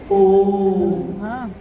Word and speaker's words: ओम: जो प्रकट हुई उस ध्वनि की आवाज थी अ उ म अगर एक साथ सुना जाए उसको तो उसकी आवाज घुसती हुई ऐसी है जैसे हम बोलते हैं या उच्चारण करते हैं तो हम कहते हैं ओम है वो अ उ म यानी उत्पत्ति स्थिति और